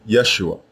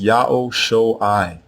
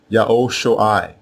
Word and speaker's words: Ya'oh Sho'ai: Now the first version is not pronounced Yeshua. It is pronounced Ya'oh Sho'ai. Ya'oh Sho'ai, and it means Ya'oh is salvation.